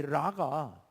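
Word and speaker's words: Ra: 이런 말이기도 하고, 또 다른 의미에서는 이 라가, 여러분 이거 정말 놀라운 말인데요. 라가요, 이집트의 최고신이에요. 이집트의 최고신. 레라고도 발음하고 라라고도 발음하는데요.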